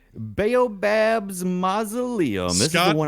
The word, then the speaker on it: Baobab's Mausoleum: Baobab's Mausoleum? Baobab's Mausoleum.